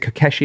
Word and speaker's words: Keshi: Uh is it Keshi? Is that how you pronounce it? Yeah.